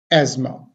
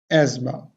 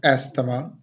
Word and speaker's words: asthma: to pronounce this word so how would we pronounce this word s asthma asthma asthma so again repeat after me and after some practice you will be able to pronounce this word correctly nut astama asthma asthma asthma the next one again the